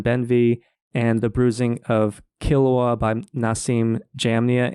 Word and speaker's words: Qilwa: That's I Am Not Your Chosen One by Evelyn Benvey and The Bruising of Kilwa by Nassim Jamnia. And Kilwa is spelled Qilwa.